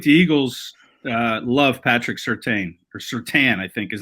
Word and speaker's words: Surtain: the alabama crimson tide and um it's patrick certain is how the last name is said i